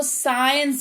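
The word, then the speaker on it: science: ए रहा है तो यहां पर जो साइंस नहीं पढ़ने हैं इसको इसको साइंस पढ़ने हैं क्या पढ़ने हैं साइंस यहां पर सी का उच्चारण नहीं हो रहा सिर्फ एस का उच्चारण हो रहा है इसलिए 100 से उच्चारण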